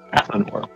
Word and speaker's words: Athanor: armor is from the uh Elven Kingdom of athanor athanor yep which is spelled a t h a n o r